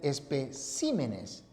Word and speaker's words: especímenes: Pero atención, si los nombres esdrújulos acabados en consonante, al pluralizar, cambian la posición de la sílaba tónica. Entonces, si la palabra es espécimen, al pluralizar, queda en especímenes.